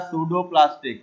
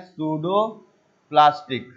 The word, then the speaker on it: pseudoplastic: है ये होता है सूडो प्लास्टिक, इसमें पी साइलेंट होता है, इसको हम लोग बोलते हैं सूडो प्लास्टिक, ठीक।